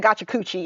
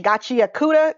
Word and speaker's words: Gachiakuta: I almost said Gachakuchi, and I know that's not how you say it. Gachiakuta?